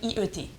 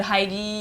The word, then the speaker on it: Haïti: Donc en gros, je leur dis que je m'appelle IET. I-E-T. C'est la seule façon qu'il prononce ça, sinon il m'appelle Heidi. Non, ou dire c'est I-E-T pour hello? Oui, en anglais, quand tu prononces I-E-T, c'est I-E-T. Ce qui est le plus proche phonétiquement de mon nom.